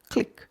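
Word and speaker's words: clique: functioning day 49 today's word is click click click one syllable click is a noun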